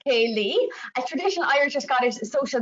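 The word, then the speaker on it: ceilidh: bit of a king which is a scottish and irish word and pronounced kaylee a traditional irish scottish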